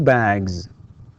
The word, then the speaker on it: bags: He has or she has 2 bags. Okay, 2 bags. Right. تكتب S وتنطق Z.